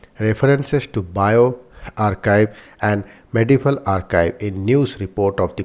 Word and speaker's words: arXiv: arXiv pronounced archive because the X stands for Z. The 22nd letter of the Greek alphabet is a gigantic online